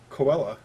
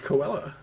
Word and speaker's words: Cruella: wait what did you what did you call her koela koela yeah it's Cruella Cruella it's Cruella Deville Cruella it's Coke you're you're messing with me no I'm not it's Cruella Deville it's Cruella like